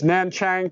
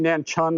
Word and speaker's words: Nanchang: It's Nanchang, but it's actually Nanchun, I think it's pronounced or something.